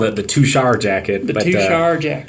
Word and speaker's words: Tushar: has called it the two shower jacket it's we pronounce it here in southern utah as the tusher rain jacket uh so i guess